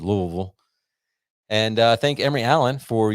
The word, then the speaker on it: Louisville: If you're from Louisville, sorry, because I'm probably saying it wrong, but I don't think it's Louisville or Louisville. I think it's just Louisville.